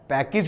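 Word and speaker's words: package: ठीक है, पैकेज नहीं होता है, पैकेज होता है।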